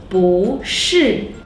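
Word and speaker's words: 不是: But if it's followed by a syllable in the fourth tone, it should be the second tone, just like 不会, 不是.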